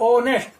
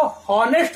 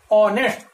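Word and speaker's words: honest: यहां पर आप देख रहे हैं कि जो एच है इस एच का हम प्रोनाउंसिएशन नहीं कर रहे हैं, इसका उच्चारण नहीं कर रहे हैं। अगर कुछ विद्यार्थी इसको हॉनेस्ट कहते हैं तो वो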